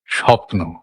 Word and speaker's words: স্বপ্ন: অনুভবটা প্রকাশ করতে পারলাম স্বপ্ন তো এখানে দুটো সিলেবেল সপ একটা নো একটা যদিও বানান লেখা থাকে দন্তস বয়ে কিন্তু আমরা উচ্চারণ দন্তসই করছি শুধু বা দন্তসও করছি না তালবস করছি স্বপ্ন কারণ এটাই স্বাভাবিক